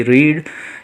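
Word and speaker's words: read: इसके बाद में मेन वर्ब पढ़ना की, रीड। इसका थर्ड फॉर्म रीड ही लिखा जाता है, लेकिन पढ़ते वक्त हम इसका प्रोनाउंसिएशन करेंगे रेड।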